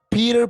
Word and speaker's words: Peter: En inglés es la P, no se dice P, sino P. P. Peter. Peter. Es como un golpecito.